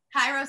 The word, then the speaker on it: Kairos: Once said, you do it right, but you say it wrong. Because we were she's saying Greek. Kairos. She says it's Keros.